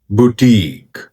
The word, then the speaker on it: Boutique: इस वर्ड की सही प्रोनाउंसिएशन है बुटीक, बुटीक, बुटीक, बुटीक, बुटीक, बुटीक, बुटीक, बुटीक, बुटीक।